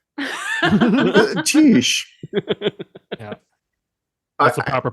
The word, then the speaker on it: Tisch: And then how was Tisch? Tisch. Yeah. That's the proper pronunciation.